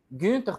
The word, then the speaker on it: Günther: Meu nome é Gunter, para quem tem dúvida da pronúncia. Tem um tremazinho no U. Aí ele sai com som de i.